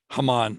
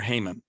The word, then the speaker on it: Haman: And then we have the evil one, Haman, or Haman, as we pronounce his name.